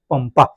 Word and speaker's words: पंपा: अब ये प है, अनुस्वार है, अनुस्वार के बाद क्या है? प। अब प का जो वर्ग है, प का वर्ग कहाँ जाके खत्म होता है? म पे होता है ना, इसलिए इसका उच्चारण म होता है, पंपा।